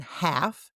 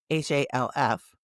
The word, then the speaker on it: half: Have you heard about the silent L? L, L. What the L? No, the letter L. As in half, H-A-L-F, talk, T-A-L-K, and walk. Walk, talk, and half all have an L that you do not hear.